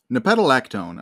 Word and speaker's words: nepetalactone: Nepetalactone, I believe, is how you pronounce that.